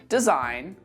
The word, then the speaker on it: design: to the letter G and we don't pronounce this letter in words like campaign assign design sign rain say it after me